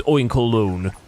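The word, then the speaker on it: Oinkologne: I I guess it's supposed to be said like that because you pronounce cologne as well. Cologne. So, it's oink colon.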